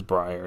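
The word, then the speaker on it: Briar: Pool into two episodes we're going to meet Brier or Brier I call her B pronounce it both ways but it is Brier now confirmed in the episode um but we also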